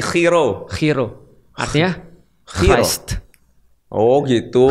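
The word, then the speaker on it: Chi Rho: X dalam bahasa Yunani bacanya Khi. Oh, ulangi. Khi khi dan P dalam bahasa Yun dibacanya row. Row. R berarti khiro.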